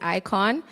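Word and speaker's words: IKOJN: So my brand is Icon, and you actually spell it I-K-O-J-N because it's my name, backwards. And the J is silent, right?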